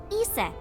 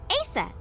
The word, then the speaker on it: Isis: horace's mom is named isis but in ancient egyptian it's pronounced closer to isa or asa oh interesting horus's mom